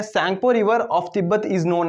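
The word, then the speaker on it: Tsangpo: तो आपको बताना है कि जो तिब्बत की सैंगपो रिवर है, देखो यहाँ पे टी साइलेंट होता है, इसको सैंगपो बोलते हैं।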